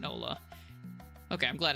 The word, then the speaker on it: hola: You've been in a Spanish-speaking country for 12 years, and you still sometimes pronounce the H in Ola.